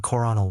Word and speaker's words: colonel: The spelling colonel won, but the pronunciation coronel won.